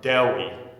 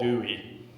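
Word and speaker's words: Dewi: Welsh philosopher named Deli Zephaniah Phillip so that's pronounced like Dair but with a W Deli Del and he did not like to be called Dewey uh I finished an Ma and philosophy in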